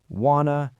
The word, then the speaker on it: wanna: We're talking about words like gonna, wanna, gota, have to, let me, give me, kind of, and sort of.